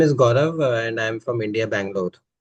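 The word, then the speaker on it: Gaurav: So, my name is Gorav and I'm from India, Bangalore. Nice. Nice to meet you. Uh, what's your name again? Gorav. G A R A V. Gorav.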